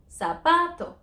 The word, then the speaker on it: zapato: stress next to last shoe ends in a vowel so we need to stress this one zapato very simple now let's